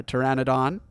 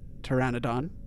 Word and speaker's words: Pteranodon: of the time uh Pteranodon the p is silent uh Dilophosaurus actually yeah I'm pretty sure the PE silent and Pteranodon I feel like yeah